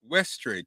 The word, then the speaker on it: Westray: kenny how do you say your last name ashtray westray kenny westray look y'all